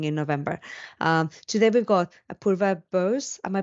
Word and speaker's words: Apurva Bose: Today we've got Apurva Bose. Am I pronouncing that correctly?